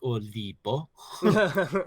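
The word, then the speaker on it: 올리버: pronunciation in Korean is olibo. Okay, Oliver. Olibo because they don't have V, Okay, so they I see.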